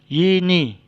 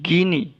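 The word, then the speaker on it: γυνή: contoh kata di sini ada Yeni Yeni ya bukan gini bukan juga gune tapi ini a Hai mungkin gune adalah transliterasi dari kata ini ke latin tapi cara membacanya tidak seperti transliterasinya ya dibaca Yeni artinya ibu atau istri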